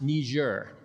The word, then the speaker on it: Niger: He pointed to a map of Africa on the wall, to a country spelled Niger, pronounced Niger. I did not know that. Yeah, I pronounced it the wrong way.